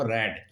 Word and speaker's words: read: है वो third form रेड। Spelling तो तीनों की एक है, रीड READ, और लेकिन इनको फर्स्ट फॉर्म में तो बोला जाता है रीड, सेकंड में बोला जाता है रेड, थर्ड में बोला जाता है रेड।